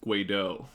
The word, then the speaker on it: Guedo: But then I found out recently it's Guido. Like, I guess my auntie went to Europe or some shit, and it's actually French, and it's Guido.